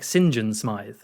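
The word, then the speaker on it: St John Smith: was like oh okay so it's spelled like Saint John Smith but he says it like Sinjin Smith and I was like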